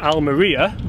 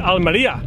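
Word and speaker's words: Almería: Springs almonds or Ania al meriya I call it Alan Malia now because that's our Garcia pronounces it yeah he looks the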